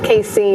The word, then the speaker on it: casein: Casein.